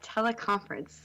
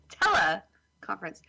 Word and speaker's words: teleconference: into teleconference thing oh why don't you say it like that teleconference like so if we get if we can say it teleconference but you're like tell a conference yeah but you put like the emphasis on the wrong syllable can you say wisconsin